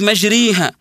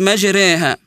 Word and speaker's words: مجريها: وبعضهم كذلك يستصعب انه ينطق الالف المماله زي كلمه مثلا مجريها يجي يقراها لك مجريها وهذا خطا الصحيح ان نقراها كما انزلت مجريها ومن ذلك كذلك تغيير